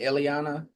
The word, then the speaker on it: Illyana: About any of um I mean with with and how do you pronounce that is it Illyana?